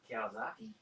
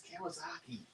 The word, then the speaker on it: Kawasaki: it says glow no this one is highlighted kawazaki kowalski it's kawasaki kawasaki oh my gosh people think i'm bad at pronunciation oh okay it's like stop green naomi